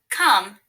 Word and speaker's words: come: K is spelled with the letter C. Is spelled with the letter O. M is spelled with the letter M. There is also the letter E at the end of this word that doesn't spell any sound. K-a-m. C-O-M-E. Come.